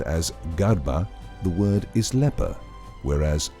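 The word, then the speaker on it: ܓܪܒܐ: Pronounced as Garba, the word is leper, whereas the Garaba, same letters, means jar maker.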